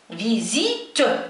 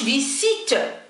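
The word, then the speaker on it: visite: قلت فيزيت، ما قلتش فيسيت، لا ينطق س، هنا ينطق ز فيزيت.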